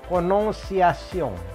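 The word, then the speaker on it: prononciation: Nah ini, lihat, ada si R, cadel R. Lalu ada kombinasi ON. Kombinasi ON di bahasa Prancis itu bunyinya ong. Ong, ya.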